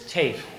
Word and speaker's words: Tafe: It's TAFE, long A.